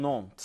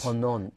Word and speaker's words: Ponant: How do we pronounce this one? Ponant. Ponant.